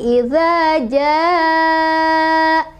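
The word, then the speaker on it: إذا جاء: Cara bacanya dipanjangkan boleh 4, boleh 5. Jadi idza jaa, idza jaa, gitu. 4 atau 5.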